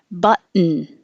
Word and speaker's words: button: So you put your tongue in the T position, which is the same as the N position. But and then you just make the noise. Button. and the vowel is as in up.